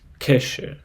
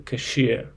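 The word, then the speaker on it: cashier: correctly because for example the first um desire to say uh cash which derives from the word cash but but the right pronunciation will be kashier yeah kashier the man well actually I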